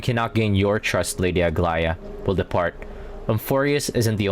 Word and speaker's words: Aglaya: That's Aglaya. Aglaya, I mean. That's how it's pronounced more properly.